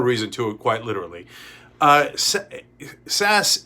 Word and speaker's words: Sasse: Sasse is spelled in a way that it could be pronounced sassy.